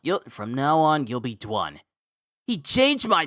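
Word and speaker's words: Dwun: It was with a silent W.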